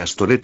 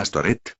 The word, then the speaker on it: Astoret: la prostitución, por eso se cree que el nombre Astoret es una forma hebrea del nombre Astarte, pronunciado por los judíos con las vocales de la palabra Boset, es decir, vergüenza.